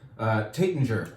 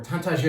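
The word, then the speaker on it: Taittinger: This is Comte de Champagne by Kottinger, or Tantager if you want. You can you can say it like a Brit or a frog.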